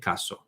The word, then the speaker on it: casó: So se casó, that one is necessary. And by the way, casó has an accent on the O.